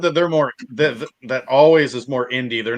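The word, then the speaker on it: Alvvays: It's AL where there should be a W. It's VV. VV. It's it's pronounced always, I guess, but Is it Always?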